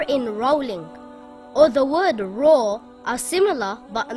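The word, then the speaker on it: راء: about this letter this letter is called raw ra is pronounced with a thick sound if there is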